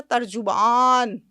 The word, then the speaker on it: ترجمان: ترجمان کا مطلب پتہ ہے کتنا وزنی لفظ ہے, ترجمان. آپ نے تو جیم کے اوپر پیش بھی وہ پورا ڈالا جو اردو تلفظ میں سکھایا جاتا ہے نا.